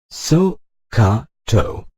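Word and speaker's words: SOHCAHTOA: at the bold letters they fall and Emmonak so ha toe it is pronounced so ha - ah this so stands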